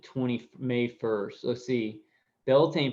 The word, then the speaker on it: Beltane: do on the 20 May first let's see Beltane pronounced Beltane begins April 30th it's sundown and lasts until